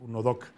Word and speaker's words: UNODC: y el Delito, la se pronuncia UNODC, pues UNODOC.